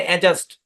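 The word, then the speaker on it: adjust: অ্যাডজাস্ট বলি, কিন্তু ভাই এখানে ডি সাইলেন্ট। এই শব্দের উচ্চারণ হচ্ছে অ্যাডজাস্ট।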